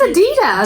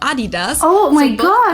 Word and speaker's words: Adidas: were referring to because they usually pronounce it's Adidas Adidas and in Germany we say Adidas Adidas Adidas super different manufacturer in